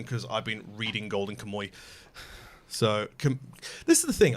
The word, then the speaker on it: Kamuy: So, of course, I'm not going to mention anything from this season because I've been reading Golden Kamuy. So, this is the thing. I've heard so many people pronounce it different ways.